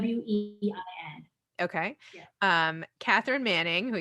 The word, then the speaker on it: Nguyen: We pronounce it Nguyen. It's like Nguyen. Wein.